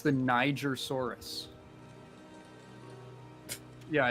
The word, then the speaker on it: Niger: be a cool name it's not the n-word it's it's like it's Niger yeah yeah it's like a it is not the n-word what is that is that a soft G I think G is a hard G um perhaps now it's